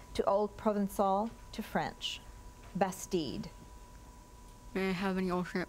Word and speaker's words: bastide: Bastide. Bastide. May I have the definition? A village or town in medieval France built especially for defense and usually laid out according to a definite geometric plan. Bastide.